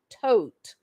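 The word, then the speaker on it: Todt: Anthony Tote, the judge, they're saying his name is pronounced Tote. It's spelled T-O-D-T.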